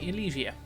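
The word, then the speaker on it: Ylesia: So today we're discussing the Reek, a creature that is rhino-esque from the planet Elysia. The Y is silent in that name, with various subspecies that could also be found on Iridonia and Kashyyyk, and I believe Ifor as well.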